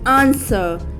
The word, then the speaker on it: answer: here next word is answer in answer there is no sound of w next word is wheat